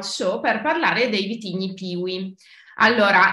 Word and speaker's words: PIWI: per parlare dei vitigni piwi Allora è o Pivi Forse è meglio pronunciarlo con la W alla tedesca Perché tra l'altro altro Pivi è proprio un acronimo tedesco Che